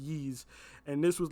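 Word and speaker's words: Ys: Yeez, which shockingly I actually know how to pronounce it, but it's pronounced Yeez.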